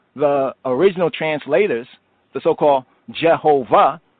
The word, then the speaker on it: Jehovah: So if we were pronouncing it from the original translators, the so-called Jehovah, it would be Yehovah, Yehovah, because the V has a W sound in German.